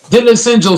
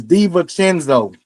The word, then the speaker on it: DiVincenzo: Dylan Central stats. Central stats. How do you say his motherfucking name? Dylan Central stats. Fuck. What is his nigga name? It's DiVincenzo.